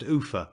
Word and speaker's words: Ulpha: The next place of any consequence after leaving Seathwaite is Ulpha, pronounced Ufa by the dalesmen.